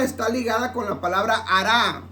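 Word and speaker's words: הָרַע: La palabra hará, H-A-R-A, la palabra hará significa maligno.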